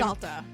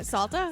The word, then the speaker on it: Salter: you nuts Romeo Salter is that how you say his name salta it's s l ta is that can you say it again sa salta salta Sala salta Romeo Sala I don't understand how anyone